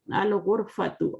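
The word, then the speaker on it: الغرفة: Al-ghurfatu. Al-ghurfatu. Ghain is here. Ghain is here. So al-ghurfatu.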